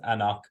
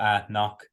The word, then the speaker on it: anCnoc: single malt scotch whiskey pronounced anak uh or at knock um non-chill filtered natural